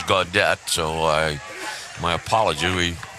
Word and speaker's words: Gaudet: i may have um inadvertently called dylan gaudet god day it is gaudette so i my apology